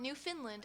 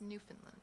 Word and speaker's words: Newfoundland: it's a tough one they specifically tell you how to say it in the book not Newfoundland it's not new Finland its Newfoundland yes anyways um but